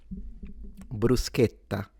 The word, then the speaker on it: bruschetta: Standard Italian, bruschetta. So, closed A, bru- sche- tta. Bruschetta. Bruschetta. People in the south, bruschetta, with an open A.